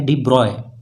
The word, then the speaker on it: de Broglie: और उसके साथ साथ ये जो डी ब्रॉय, इसका जो प्रोनाउंसिएशन है डी ब्रॉय, एक्चुअली ऐसे करते हैं, ठीक है।